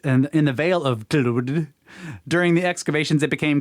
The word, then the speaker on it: Clwyd: Clwyd.